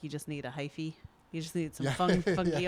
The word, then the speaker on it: hyphae: So sometimes there's also something called hyphae, HYPHAE, hyphae, because that's how they were pronouncing it.